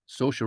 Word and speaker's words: Saoirse: the first name I don't know how to pronounce exactly. Uh, Sarise Ronan. Ah, Saoirse Ronan.